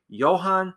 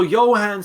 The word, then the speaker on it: Johann: So Johann Sebastian Bach, the J is pronounced a little different.